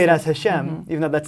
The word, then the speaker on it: Hashem: And then in the second chapter, there's another name, one that we don't choose not to pronounce. Hashem. And we'll say it as Hashem, even though that's not how it's written.